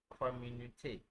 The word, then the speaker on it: communauté: We have community in English, but in French it's pronounced communauté.